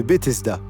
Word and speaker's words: Bethesda: les piscines jumelles de Bethesda. Prononcé Beth Esda en hébreu, le nom signifie maison de grâce.